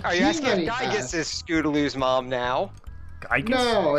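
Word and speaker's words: Giygas: cuz it was like his last name had the weird spelling with the Y and everything. Yeah, it's I think it's Gigas. So I I I call it gigas and then you found out stuff about the Japanese where it's gig so it's more likely gigas.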